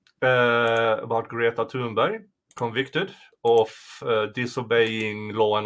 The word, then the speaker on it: Thunberg: Thunberg. Really? Thunberg? What? Thunberg? Is that the Swedish pronunciation? Yeah, the H is silent.